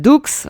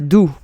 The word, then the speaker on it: Doux: So, for the French, when we hear a blogger or vlogger saying Dukes, it cracks us because... yeah, it's funny. yeah, in French, you pronounce it doux, lettre doux.